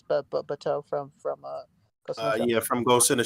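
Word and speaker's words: Batou: I reviewed the Bato figure today. I'm pronouncing that right, Rick? Oh, he went away. Oh, it's you're good. It's Bato from from Ghost in the Shell.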